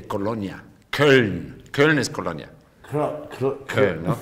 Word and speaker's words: Köln: Köln, ¿no? ¿Y aquí... ¿Cómo se escribe?